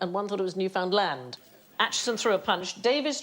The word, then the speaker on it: Newfoundland: I think he said, oh, I did that murder in Newfoundland. No, it's Newfoundland! But actually, both men were right, because at the time, both pronunciations were perfectly acceptable. It's only fairly recently that people have gone a bit... And what is it now? Without looking? Newfoundland. Newfoundland?